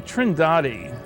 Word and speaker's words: Trindade: And here's a sequence from Trindade, I'm told it's pronounced, 600 miles east of the coast of Brazil.